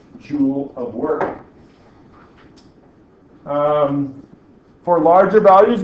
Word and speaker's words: joule: Now, we also call this the joule, and that rhymes with pool.